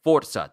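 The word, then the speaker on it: Forza: So, now that we're getting Gears of War and Forsa, that's the correct way to pronounce that, by the way, and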